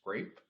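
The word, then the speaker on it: CREP: replication and education project you pronounce it as grape like the fruit and in 2019 uh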